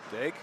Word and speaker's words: Daigle: Daig? I'm not sure how you pronounce. D-A-I-G-L-E? Yeah, is it just Daig? Daig? Yeah, I believe so.